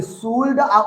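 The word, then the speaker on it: should: हाँ, शैल, will, शुड, वुड, कुड, एल का उच्चारण नहीं होता है, यहाँ एल साइलेंट रहता है।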